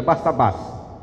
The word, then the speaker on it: Barsabás: Então é Barsabás, certo? Essa palavra é oxítona, e a palavra oxítona o som mais forte é na última sílaba.